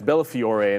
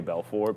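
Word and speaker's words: Bellafiore: Yeah, it's Bella Fior. And it's cuz in my head I start wanting to say Belffor because obviously but then again I mean these guys you know they're selling things.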